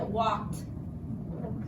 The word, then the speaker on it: walked: but we pronounced it walked walk that eat these down make many different sounds depending on the word and for this word it sounds like a T sound at the end I walked we don't hear the